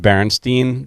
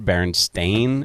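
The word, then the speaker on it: Berenstain: So it's pronounced Baronstein, but it's spelled S T A I N. Baronstein.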